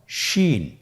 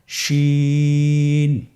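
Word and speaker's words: ش: শিন। আপনারা আমার সাথে বলুন, শিন। আপনার ঠোঁটের অবস্থান কীরূপ হবে আপনারা লক্ষ্য করুন, শিন।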